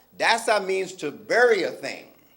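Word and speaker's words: دسّ: to bury a thing spell it D SSA if you spell if you know Arabic it would be Dal scene with what's called a sheda on top of the scene that'sa it means to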